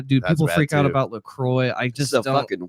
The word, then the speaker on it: LaCroix: tried Lacroix I do people freak out about Lacroix I just worse don't like they pronounce that I really don't dude yeah I've heard so many different pronunciations of that word it's Lacroix it's yeah so how long have you been